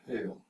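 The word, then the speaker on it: Heil: the old german and the word in german is literally pronounced hail well there's an english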